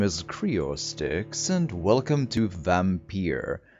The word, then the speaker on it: Vampyr: It might be pronounced Vampire as well, but you know, when I say Vampyr, people tend to know what I'm talking, like which game I mean. So it should be fine, I hope.